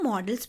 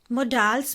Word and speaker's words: modals: यूज करते हैं उनको मॉडल्स बोला जाता है. कुछ बच्चे जो हैं इसको प्रोनाउंस गलत करते हैं, मोडाल्स बोलते हैं. मोडाल्स नहीं होता है, मॉडल्स होता है.